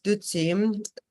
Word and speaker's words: dutsi: So this term nectar in Tibetan, it is dutsi, 2 syllables, du and tsi, and du means like Mara or demon, and tsi means like nectar or elixir.